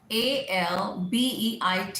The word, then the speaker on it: albeit: Now, ALBEIT, ALBEIT, इसको कैसे बोलते हो आप? Albeit, albeit. It will be albeit.